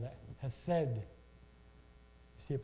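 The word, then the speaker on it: חסד: His steadfast love is that called that hesed. You see it pronounced H-E-S-D or C-H-S-E-D, E-S-D. It's hesed. It's a Hebrew word.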